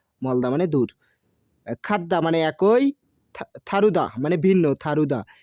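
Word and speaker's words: 다르다: দূর খাদ্দা মানে একই থারুদা মানে ভিন্ন থারুদা এটা দারুদা হবে না থারুদা উচ্চারণ হবে থ উচ্চারণ করে এটা দীর্ঘদের উচ্চারণ থ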